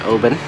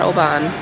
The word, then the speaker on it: Oban: We're in Obin, which is how you say it, apparently. Yeah, it's not Oban. It's Obin.